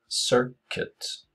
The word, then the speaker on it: circuit: Her, circuit. Sir, men ø egentlig, eller y, sir, sir, ikke i, circuit.